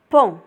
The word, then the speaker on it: pont: P avec on pont comme un pont.